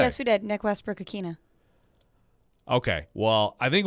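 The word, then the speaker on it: Westbrook-Ikhine: of all all right did we not ask michelle nick westbrook akina to pronounce his name when we had him on the show and what he said yes we did nick westbrook akina okay well i think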